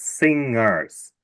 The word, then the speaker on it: singers: The first one is singers. We don't pronounce the G separately because it's part of the letters ing. Singers.